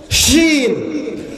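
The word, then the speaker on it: ش: শিন, শিন যখন উচ্চারণ করবেন যারা মাখরাজ বুঝেন তারা বুঝতে পারবেন।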